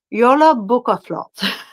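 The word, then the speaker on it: Jólabókaflóð: It's pronounced Yola Bukaflot.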